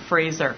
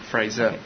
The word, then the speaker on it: Fraser: but I know how to say his name Fraser Fraser v um she was incredible um those of